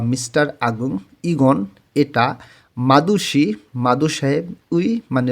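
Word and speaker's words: 의: উই যখন পার্টিকেলে, যখন কোনো শব্দের শেষে বসে, তখন এটার উচ্চারণ উই না হয়ে এর মতন উচ্চারণ হয়, এটার উচ্চারণ হবে এ।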